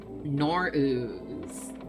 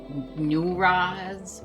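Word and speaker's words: Nowruz: Nor'ooz. That's how you say it, Nor'ooz. Now people are spelling it Nuraz or Nauraz.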